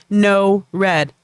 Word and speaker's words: Norid: First off, Norid is pronounced no red. No red.